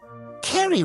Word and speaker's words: Carrie: Carrie rhymes with Mata Hari.